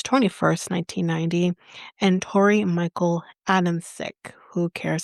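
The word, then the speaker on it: Adamcik: was born March 21st, 1990, and Tori Michael Adams sick. Who cares how you say his name? I don't care. Okay, it's Adam Chick, but who cares?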